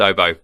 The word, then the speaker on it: oboe: it came from but my French colleagues in the office call it oboe a with a with the with an accent on the on the 8 oh it sounds yeah it sounds a lot more eloquent you know but technically it's just I just oboe but yeah so I'm